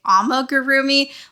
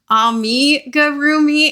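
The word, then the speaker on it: amigurumi: I automatically say amarroomi but I know that it's supposed to be ami gurroomi and I my brain just does not want to say that correctly so please forgive me.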